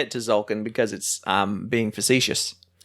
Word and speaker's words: Tzolk'in: I'm talking about Tzolk'in. flabs, my flabs. Talking about Tzolk'in. Oh, yeah. The T is silent.